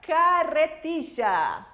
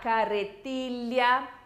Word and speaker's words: carretilla: E esta, carretilla. Aqui a gente pode falar carretilha, carretilla o carretilla. Doble L apresenta diferentes pronunciações. Você vai escolher aquela com a qual você mais se identifica.